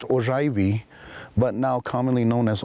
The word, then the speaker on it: Oraibi: The village that I come from is traditionally pronounced Oraibi, but now commonly known as Old Oraibi, to